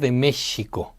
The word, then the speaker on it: México: This sound was replacing the traditional SH among the Spanish and the new settlers of the Mesoamerican region .